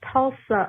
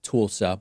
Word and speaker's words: Tulsa: but you know I I know that it's pronounced Tulsa Oklahoma but just to get us back to the days of the Democratic primary I've been having a good time calling it tool stuff but I know that it's Tulsa I appreciate